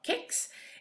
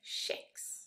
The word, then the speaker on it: kex: Och hur det här ordet ska uttalas i svenska, det beror lite på om man vill respektera i formen som det hade när det lånades in och då skulle det vara kex. Eller om man vill att det här ordet ska anpassa sig till reglerna för hur svenskan uttalas och då blir det kex.